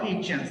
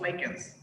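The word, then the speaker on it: lichens: first we should understand what is this lyans or Lance some some pronounce Lance or some pronounce lyans so this like an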